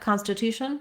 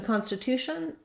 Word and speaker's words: constitution: our clear vowel but Constitution has enough syllables that it also has a clear vowel in the first syllable con so letter c n say say a con when the syllable is stressed for example contact concept and they say can when the syllable is unstressed like consider um concern Etc so in Constitution there is some stress there it's not the main stress though I don't want Constitution